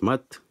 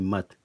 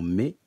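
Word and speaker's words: Maât: symbole de la divinité maths qui se dit mas et non mais que l'on doit prononcer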